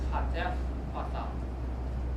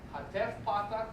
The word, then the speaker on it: hatef patah: So it's hatef patah pronounced as ah.